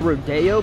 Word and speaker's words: Rodeo: It's pronounced Rodeo, but it's spelled Rodeo.